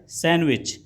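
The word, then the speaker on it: sandwich: अगला प्रश्न है, विच letter is silent in the word सैंडविच, यानी आपका जो डी होता है वह साइलेंट होता है, तो ऑप्शन सी सही होगा।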